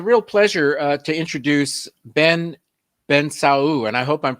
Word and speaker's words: Bensaou: well it's a real pleasure to introduce ben ben sao and i hope i'm pronouncing his last name correctly am i very